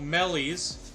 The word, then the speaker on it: melee: like really small diamonds they're actually called mellies spelled like Melee oh that's really cool